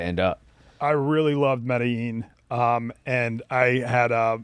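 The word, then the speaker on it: Medellín: have seen that recently they've been doing a big crackdown in Medellin is how they say it there.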